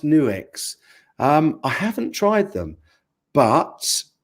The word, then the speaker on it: Nux: a multi effects pedal new X isn't it that's pronounced new X I haven't tried them